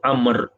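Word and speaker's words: عمرو: panggilan dia 21 Abu Amr jamaah ibunya ejaannya Amru tetapi dibaca Amr deh sebagai Imam begitu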